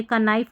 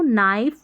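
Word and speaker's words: knife: दूसरा है कि जब ये रहता है ना के एन से शुरू होने वाले शब्दों में के अक्षर जैसे के एन के एन के एन तो साइलेंट रहता है। यहां पर जो शुरू का के है ना इन स्पेलिंग्स में साइलेंट रहेगा। इसको हम कनो नहीं पढ़ेंगे। क नाइफ नहीं पढ़ेंगे कनी नहीं पढ़ेंगे हम पढ़ेंगे नो नाइफ नी क्योंकि यहां पर के साइलेंट है रूल यहां पर आपने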